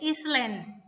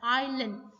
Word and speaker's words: island: salah baca ini ya kebanyakan dari orang Indonesia bacanya Island Oke atau Island ah harusnya ini I let us nya silence yang kadar ga dibaca Allen Oke next di click